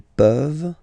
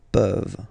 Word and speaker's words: peuvent: pouvons, vous pouvez, ils peuvent, elles peuvent. Okay, as usual, this ending, this ENT ending, you write it, you don't pronounce it. Okay, peuvent, peuvent, peuvent.